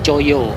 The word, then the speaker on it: Coyo: Cuman ada 4 huruf, C-O-Y-O. Tapi untuk zaman dulu tuh nama Choyo itu tidak 4 huruf ya, menggunakan ejaan yang belum disempurnakan atau ejaan lama, T-J-O-J-O. Jadi kalau T-J itu huruf C ya kalau untuk saat ini, dan huruf J itu dulu dibacanya Y.